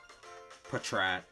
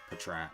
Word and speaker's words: Patrat: Patrat. Because it comes from patrol, so it's pronounced Patrat.